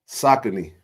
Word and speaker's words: Saucony: Saucony. Saucony. That's what all this time they pronounce Saucony.